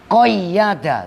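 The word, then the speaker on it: قيّد: Jawabnya lamma qayyada, tasdid yaknya qayyada. Tuh cara baca kitab tuh begitu.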